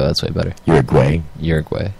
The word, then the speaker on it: Uruguay: way better you're going uruguay uruguay like as a boy as if you were calling me a quay broke okay agway like you're what I don't know but that's how you pronounce it Uruguay so for multi videos